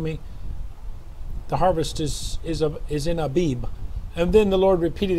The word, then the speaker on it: Abib: Abib, A-B-I-B. Some people in English, they write A-V-I-V, the pronunciation, and the phonic transliteration in English is Abib, A-B-I-B.